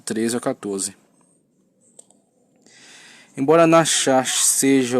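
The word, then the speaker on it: נחש: Nachash, pronúncia hebraica, ok? Nachash.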